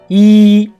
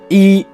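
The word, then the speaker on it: 一: as russia next one e means one number one it is the first tone when it is used as a number like II our son is one two three but when e is proceeding words with the first on second tone or 3rd tone it becomes a false tone for example e TN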